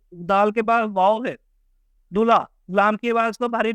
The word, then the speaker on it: دلہا: اسی طرح نیچے دیکھیں دلہا، لام کی آواز کو بھاری بنایا گیا ہے.